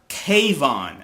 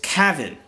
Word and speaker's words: Kevin: is bullshit is that his name is not Kayvon, as T-O-I-T is pronouncing, or I should say mispronouncing. It's Kevin. It sounds more similar to Kevin.